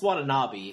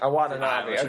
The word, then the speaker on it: Watanabe: Am I pronouncing his name wrong? I think it's Watanabe. Watanabe. Okay, sorry. Ken Watanabe.